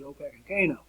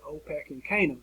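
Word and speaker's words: Opechancanough: trying to pronounce this i had the best pronunciation i can come up with which i've used for well over 20 years at opec and kano i'll say it again for you opec and canaan the older brother hatton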